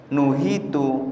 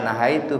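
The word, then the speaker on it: نُهِيتُ: Nabi sallallahu alaihi wasallam, nuhitu an qatlil musallin. Bukan nahaitu bacanya, tapi nuhitu. Kalau nahaitu saya melarang, tapi kalau nuhitu aku dilarang. Itu bedanya, satu fi'il maklum, yang satu fi'il majhul.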